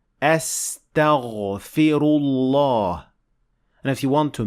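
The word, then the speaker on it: أستغفر الله: After that, the fa has kasra. Don't forget, this is very important. Astaghfi. And last, the ra has dhamma. So we say astaghfiru, astaghfirullah.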